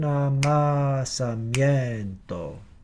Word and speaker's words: amasamiento: It's not mi yen, but rather mien, like this. Soy un amasamiento.